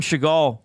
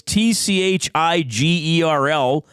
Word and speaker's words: Tschigerl: We got Sean Tschigerl checking in.